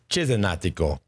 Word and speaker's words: Cesenatico: He said it wrong. It's Cesenatico. As is the case every day this summer.